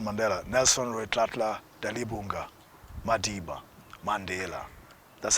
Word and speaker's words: Mandela: And Nelson Mandela, Nelson Rolihlahla Dalibunga Madiba, Mandela, that's how it's pronounced, Mandela.